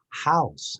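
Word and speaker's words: χάος: It's interesting, and so the Greek pronunciation of the Greek word chaos is house, huh? House, yes. Yeah, that's very interesting. Yeah, it's quite different. Of course, house is the more correct pronunciation.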